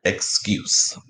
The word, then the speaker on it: excuse: Saying its name sound, excuse, right? Excuse. Final sound is the first sound of z, excuse.